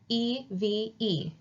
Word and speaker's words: Eve: Same with this word right here, E-V-E. This is Eve. So there's a E at the end. There's that bossy E again, yelling at that other E to say its name, Eve.